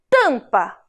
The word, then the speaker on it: tampa: Então, o M perto da vogal, no final da sílaba, também faz o som nasal.